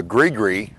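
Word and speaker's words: gris-gris: is they absolutely believe in Voodoo and the Greer uh you spell that g r i s g r i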